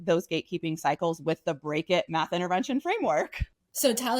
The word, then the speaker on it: B.R.E.A.K.: And you came up with a math intervention framework and break it. So do you say break it, or do you pronounce it B.R.E.A.K?